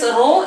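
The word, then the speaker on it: rho: letter it is uh name is row r h o row it is pronounced so this row into length by area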